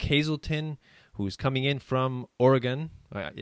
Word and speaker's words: Oregon: coming in from Oregon I want to say Oregon but you it's it's wrong right it's Oregon damn it see that's right I'm sorry it's hard people in the East don't know how to pronounce Oregon right and uh he's an